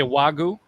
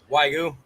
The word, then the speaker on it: Wagyu: Is that how do you say Wagyu? Wagyu. Wagyu. Wagyu, yep.